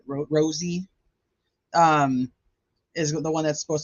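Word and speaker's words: Rozzi: It's Rozzy to me, but I know that's not how you say it. Rosie is the one that's supposed to be submitting the written motion.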